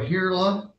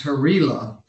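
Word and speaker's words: Herila: We got Hurley, let me see how this is spelled. It's Harila. We've got it spelled wrong on our sheet. It's H-E-R-I-L-A.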